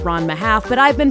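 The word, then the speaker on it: Ranma ½: half and yes I know that it's actually pronounced RMA half but I've been pronouncing it Rona 1 half my whole life so we're still going to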